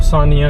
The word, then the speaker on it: Senja: लेकिन वो सानिया करके उसको प्रोनाउंस करते हैं।